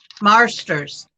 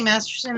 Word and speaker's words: Marsters: Anyways, his name is really hard to pronounce because you want to say Masterson, and I always know that's wrong, but saying it correctly is difficult.